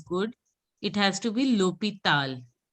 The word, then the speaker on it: hôpital: L'hôpital. H is silent, so you L'hôpital. didn't pronounce it as good. It has to be l'hôpital.